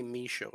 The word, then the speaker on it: Michaud: Show, like my show, just say Michaud instead.